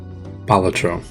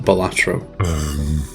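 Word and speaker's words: Balatro: Number 5, Bellatro. You know, apparently, according to some Latin experts, it's actually pronounced Bellatro, not Bellatro.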